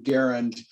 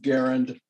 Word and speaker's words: Garand: refer to the rival but john garand pronounced his last name garen but only the uh only a few people refer to the gun as an m1 garand so you can say garand or garand you're correct either way so the